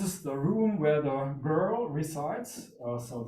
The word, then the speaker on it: GRL: This is the room where the girl resides. So this is the pronunciation of the game research lab that is used by my PhD students.